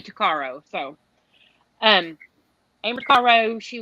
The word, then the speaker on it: Tuccaro: case is Amber Taro I've heard it pronounced both ways Taro so I really don't know exactly how it's supposed to be said but I say takaro so um Amber Caro